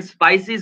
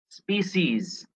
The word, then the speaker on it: species: উচ্চারণটা, অনেকে এটাকে স্পাইসিস বলে, এটা কিন্তু স্পাইসিস না, এটা স্পাইসেস না, এটা মশলা না, কিন্তু স্পিসিস।